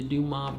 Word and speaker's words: Dumas: We've always heard it called Dumas. That's how it's pronounced in the United States. We actually had a family from Canada with that name here a couple years ago, and they said in Quebec it's actually pronounced Dumas.